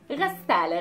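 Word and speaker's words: غسالة: The washing machine is ghassale again, and it has the L and then the T marboota, so the pronunciation of the T marboota is an A at the end.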